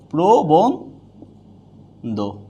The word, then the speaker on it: প্রবন্ধ: এখানে আমরা পেলাম কি, রফলা যদি শব্দের আদিতে থাকে, আদি বর্ণের সাথে থাকে, তাহলে এটা কি হয়ে যাবে, ওকার হয়ে যাবে।